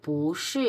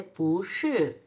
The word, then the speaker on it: 不是: Number, তখন হয়ে যাবে পুশি এরকম। পুশি, পুয়ের ক্যারেক্টার 2 নাম্বার হয়ে যাবে তখন। সরি, পুয়ের ক্যারেক্টার না, পুয়ের টোন, পুয়ের টোন তখন 2 নাম্বার হয়ে যাবে। তখন উচ্চারণ হবে এরকম যে পুশি।